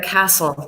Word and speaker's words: castle: Edinburgh many years ago that had in a castle that had to be spectacular I can just